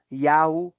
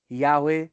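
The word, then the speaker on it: Yahweh: é aquele nome que a gente translitera como Jeová ou como Javé, que provavelmente se pronunciava Yahu ou Yahwe ou Yahua, que tem uma evidente ligação fonética com ei aé, e é e ya, né, parece ser muito parecido.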